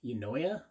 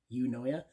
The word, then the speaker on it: Eunoia: razor here now this is the book it's pronounced you know yeah you know yeah and you can even see here if I